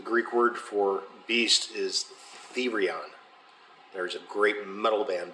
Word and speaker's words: Therion: Yeah, so they pronounce it Therion, but it's the with a long E, Therion.